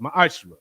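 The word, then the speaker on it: ma'aser: Means 10th in Hebrew and is pronounced ma'ashra.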